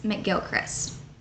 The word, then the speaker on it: McGilchrist: One of the most common ways had Mac in front of it, making it pronounced McGilchrist.